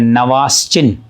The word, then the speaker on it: Nawaschin: Discovered by, पहले सुन लेते हैं, नवास्चिन, स्पेलिंग सुनिए, NAWASCHIN, नवास्चिन ने डिस्कवर किया था, नहीं डिस्कवर्ड किया था।